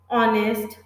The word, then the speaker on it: honest: So when H is silent, for example, honest, R, then we use now R.